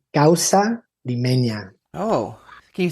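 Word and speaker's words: causa limeña: It's called Gaussa Lemena. Oh, can you say it again? Gaussa lemenia. Oh, can you spell it for me, too?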